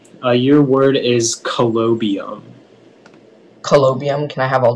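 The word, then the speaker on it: colobium: information again yeah so the only pronunciation is collobium it's a noun it's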